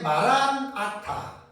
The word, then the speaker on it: 마라나타: 아멘 주 예수 오시옵소서가 고린도전서 16장 22절에 마란아타. 그래서 우리는 마란아타 그러잖아요. 마란아타라는데 뭐 라고도 하고 발음하는 데는 약간 좀 차이가 있을 수 있습니다. 똑같은 말이라는 말이에요. 우리 주여 오시옵소서. 그래서 여기에서 이제 마라나타는 신약 성경에 고린도전서 여기만 한 번 딱 나와요.